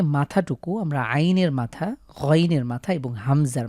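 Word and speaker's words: عين: পাচ্ছি লক্ষ্য করুন প্রথম লেটারটির নাম হলো আইন আ অবশ্যই কন্ঠে চাপ দিতে হবে এটি হলো হলক থেকে উচ্চারিত হরফ কন্ঠবর্ণ আইন এবং হা এই দুটির মাখরাজ সেম সুতরাং আমরা আইন কন্ঠে চাপ দিয়ে উচ্চারণ করব আইন ঠিক আইনের মতনই দেখতে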